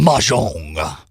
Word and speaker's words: Mahjong: Mahjong. That's the proper pronunciation. Mahjong.